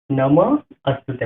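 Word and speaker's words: নমোঽস্তুতে: আমরা জানি যদি মাত্রা ছাড়া হ থাকে তাহলে এর উচ্চারণটা হবে অয়ের মতো। তাহলে এখানে হবে কি নমঃস্তুতে। তাহলে হয়ে গেলে কি নম অস্তুতে, মানে হস্তুতে জায়গায় অস্তুতে হবে।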